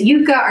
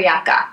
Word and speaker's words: Yucca: notorious for being grouchy is Yuka or yakka I've heard it pronounced both ways it depends on you I just put off